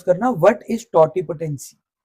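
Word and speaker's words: totipotency: ध्यान से प्रोनाउंस करना, व्हाट इज टॉटिपोटेंसी? टॉटिपोटेंसी, टॉटिपोटेंसी क्या होती है?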